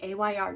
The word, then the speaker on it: Ayr: my empties videos the Ayr gel air I think it's called air but I call it a y r because air is spelled a i r any who I go